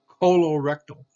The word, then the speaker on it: colorectal: Colorectal, here's a C followed by an O, colorectal. And colorectal frequently is involving with a carcinoma in cancer. So colorectal involving the colon and the rectum. Okay, colorectal, C followed by an